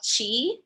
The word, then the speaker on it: Qi: sometimes called prana sometimes called Qi that could be spelled CH I or Qi pronounced the same they mean the same